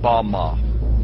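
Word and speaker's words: במה: The Hebrew word used in this text for the heights from which Satan fell is Strong's Hebrew word 1116, pronounced Bama.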